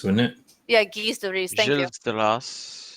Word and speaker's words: Gilles de Rais: It'd be Guise de Ris, wouldn't it? Yeah, Gilles de Rais.